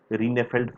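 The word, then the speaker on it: Rijneveld: uh miss mariek lucas rinefeld from the netherlands uh you know jay is pronounced as why in dutch v is pronounced as f that's right marik lucas rene felt from the netherlands for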